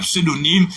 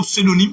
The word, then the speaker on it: pseudonyme: Il y en a plein de mots, et ce Valérie, il y a pseudonyme, il y en a plein, il y en